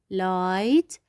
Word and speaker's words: light: And here we have also light. light. We will not pronounce G will H.